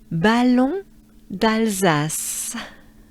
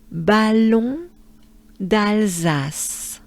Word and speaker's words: Ballon d'Alsace: So, as a whole, we want to pronounce this name like this. Ballon d'Alsace. Do it with me. Let's do it together. We take a good breath. Ballon d'Alsace.